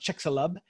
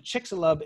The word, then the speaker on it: Chicxulub: better than I can, but I think it's pronounced Chicxulub. And Chicxulub is an undersea crater.